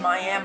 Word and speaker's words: Miami: it right my and mine is spelled the same as miami florida but this is the way we pronounce it in oklahoma just like the tribe so anyway I cut